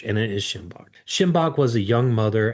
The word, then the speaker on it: Shinbach: But, you know, just for the listeners, it's spelled S H I N B A C H. And it is Shimbach.